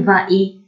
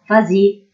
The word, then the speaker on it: vas-y: Ainsi, pour va te promener, je ne peux pas dire va-y. Je dois mettre un S pour dire vas-y.